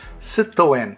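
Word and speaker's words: Citroën: french car major citroen or as the french pronounce it situan will be unveiling a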